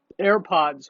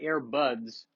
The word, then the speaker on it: AirPods: is a podcast I'm recording with the wireless AirPods, which I probably called AirBuds from a previous podcast. I am turning into the old man that mispronounces things. I got me one of them AirBuds.